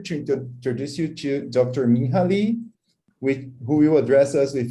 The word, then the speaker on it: Minha Lee: As Igor mentioned, I am Minha Lee. Yes, the name is pronounced a little differently than what you might envision.